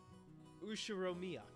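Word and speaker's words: Ushiromiya: read it I can't the first part is my family name ushiromia that's a fairly plausible Japanese pronunciation so far the problem is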